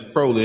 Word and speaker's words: Crowley: It's Crowley. Ain't no A in that thing.